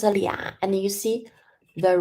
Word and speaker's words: 俩: So it's pronounced 俩, and you see the right part is the same with 两, and you add the person radical next to 俩.